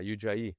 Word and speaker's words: Ujjayi: And I started doing that, and I learned about the, how do you pronounce it, Will? Ujjayi breath. Yeah, Ujjayi.